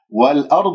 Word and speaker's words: والأرض: السماوات تقرأ هكذا الألفات ممالة وهذا خطأ، يجب أن تكون السماوات والأرض والآ، الهمزة مرققة لا تقول والآ تأثرا، فخمتها تأثرا بالراء الساكنة قبلها مفتوح تفخم والضاد الساكنة والضاد المكسورة مفخمة مرتبة خامسة، فأنت تقول والآ وهذا خطأ شائع جدا في كلمة الأرض عند أكثر من يقرؤون يقول